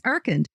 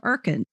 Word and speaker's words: Urkund: Today's sponsor is Irkand.